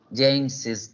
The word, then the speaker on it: James's: My personal preference is using apostrophe S, as in the first example, because in spoken English, we add the additional syllable of is at the end, like James is.